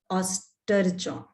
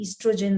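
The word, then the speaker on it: estrogen: इसको ये हील होता रहे, ये दो जो हार्मोन्स हैं, प्रोजेस्ट्रॉन एंड ऑस्ट्रोजन, इसको अलग अलग तरीके से प्रोनाउंस भी किया जा सकता है। अगर आपका ऑस्ट्रोजन ज्यादा है, ईस्ट्रोजन ज्यादा है, तो अलग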